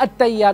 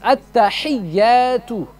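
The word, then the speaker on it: التحيات: pronunciation. Not at-tayyat. What's at-tayyat? There's no such word as at-tayyat. It's at-tahiyyatu.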